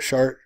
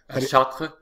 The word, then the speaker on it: Chartres: Chartres in France. Chartres.